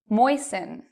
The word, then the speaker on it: moisten: okay last one moist moisten so even though you see t n t l e t n you do not pronounce the T in these words but what about often